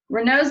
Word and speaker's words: Raynaud's: some more information well i tell my story renault's disease is also called renault syndrome or phenomenon and it is pronounced renaults and i personally like i said